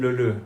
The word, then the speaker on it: Leleu: Everyone here calls him Leleu, but the way that you just said it is the correct pronunciation. Okay, Leleu.